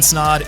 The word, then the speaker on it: Snod: what's going on guys my name is snod it rhymes with odd and welcome to the